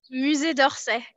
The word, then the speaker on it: Musée d'Orsay: How do you pronounce properly the name of that museum? Musée d'Orsay.